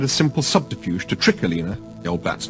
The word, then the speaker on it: Alina: It was about a week ago, when Dirk had tried a simple subterfuge to trick Alina, the old bat's name was Alina, pronounced to rhyme with cleaner, which was an irony that Dirk now no longer relished, into opening the fridge door.